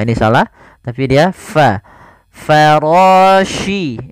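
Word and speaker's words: فراش: Farashi. Ini hati-hati, di sini huruf shin, bukan huruf si. Bukan farasil, tapi farashi.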